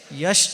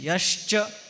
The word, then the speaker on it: यश्च: विपर्य यश यश नवे यश यश्च य यश नवे बहुत से लोग यश भी कहते हैं। यश नहीं यश्च और च का उच्चारण शुद्ध स्पष्ट होना चाहिए।